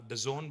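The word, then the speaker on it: DAZN: It is pronounced The Zone, but it's spelled D-A-Z-N. Now, The Zone is a global leader in sports live streaming.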